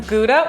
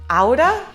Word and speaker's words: Gouda: then we have some gouda which i heard is actually pronounced auda i think that's like the proper swiss way to say it where's gouda cheese from